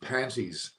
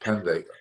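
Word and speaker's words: Pandey: So just quickly, the way that Chris's English is, the way he pronounces, I heard managed panties rather than managed pandy.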